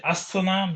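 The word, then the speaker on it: السلام: So when we say as, think about the fact that the as that you hear at the beginning, that's you're making it a definite article. That as stands for al, but you can't pronounce the al.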